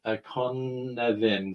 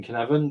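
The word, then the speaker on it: Cynefin: It's a Welsh word, and because Dave Snowden is Welsh, and it's kind of pronounced Conevin. So it's kind of the Y from an English speaking point of view is kind of like a U, and the F is kind of like a V.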